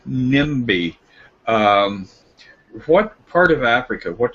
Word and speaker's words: Nnebe: Now the M sound, NIMBY.